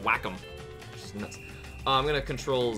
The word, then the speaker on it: Wacom: I'm drawing with a wake wake them Wacom it's actually supposed to be pronounced with Wacom I'm gonna control 0